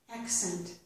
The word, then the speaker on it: accent: The second C makes a s sound. Scent. Accent. Here's another example.